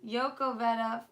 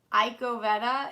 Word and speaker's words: Cavetta: Oh, Yoko Vetta. LOL, fuck Billy Belford. Yoko Vetta? So it's not Iko Vetta, it's Yoko Vetta.